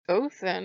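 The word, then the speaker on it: Óðinn: That's how the D is pronounced. I forget the official name for it, but it's a D with a slash through it. It's a TH sound.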